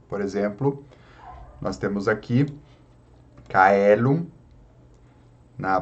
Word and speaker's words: caelum: Caelum, como o ditongo AE ou OE, possui o som do E, então o C fica caelum, caelum.